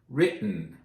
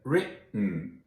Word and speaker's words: written: Written. Hear it? Written. Gotten. Eaten. Forgotten. Threaten. No T's pronounced. No real T's. Just that glottal stop.